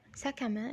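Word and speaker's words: sac à main: حقيبة نطقها سهل جدا. ساك. تمام. عندنا برضو بنقول ساكامان او ساكادو. ساكامان اللي هي شنطة الايد.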